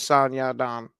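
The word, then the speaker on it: Song Yadong: Yeah, it is San Yaon.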